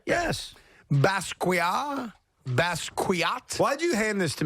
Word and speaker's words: Basquiat: Basquiat.